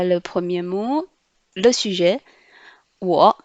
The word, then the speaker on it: 我: Wo. W prononce ou. Le O prononce O avec le troisième ton, ça fait O. Donc, ou, O, wo, ce qui veut dire moi ou je.